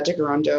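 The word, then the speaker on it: Tkaronto: so um I am in uh Darondo which is the Mohawk pronunciation for Toronto.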